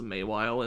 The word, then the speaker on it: Mawile: I think they pronounce Mawile as Maywile in that one as well.